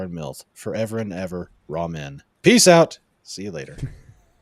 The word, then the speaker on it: ramen: RAWMEN or RAMEN. It could go either way with anime. Yeah, I'm pretty sure it's ramen, like the noodle, which is funny because it's actually lo mein from China that they mispronounced.